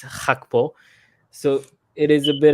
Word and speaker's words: Gakpo: So native English speakers are always going to pronounce that Gakpo, but in the Netherlands, the way to pronounce that is Hakpo.